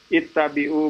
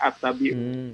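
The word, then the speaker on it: اتبعوا: karena saya masih dengar Orang bacanya attabiin Iya keliru ya kalau kita nggak tahu bahasa Arab kalau kita sudah tahu kaidah-kaidahnya yang kita ajarkan kalau huruf ketiganya Castro atau fakta berarti dibaca kasroh kalau tomografi lemah nahid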